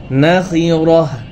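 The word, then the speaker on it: نخرة: ওয়াকফ করলে কি হয়? গোলতা হা উচ্চারণ হয়, কি হয়? হা। নাখিরাহ, রাহ, রাহ।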